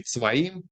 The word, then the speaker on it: Tzvaim: And then we have more north, Wadi Tzvaim. In English, it's spelled Zvaim because it's not Sadi letter.